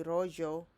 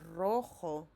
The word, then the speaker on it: rojo: J, we don't say rollo, hoyo, we say rojo, which is red.